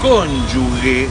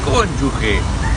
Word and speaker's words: cónyuge: Además, cónyuge está mal dicho porque no hay una U. Entonces, si no hay una U, es cónyuge.